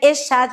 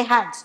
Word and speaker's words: Echad: A palavra único é a palavra Echad, se escreve Echad, mas se fala Echad.